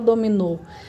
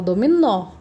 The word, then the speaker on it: dominó: com acento agudo né a gente não fala Dominou a gente fala dominó dominó a última sílaba tônica